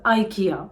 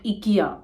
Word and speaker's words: IKEA: So this is pronounced as IKEA. It is not IKEA, it is IKEA.